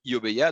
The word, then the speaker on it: iObeya: juste pour rappel alors j'ai essayé de faire le la prononciation japonaise correcte donc je crois que correctement on dit oh mais il y a donc avec un haut un peu long oh bah il y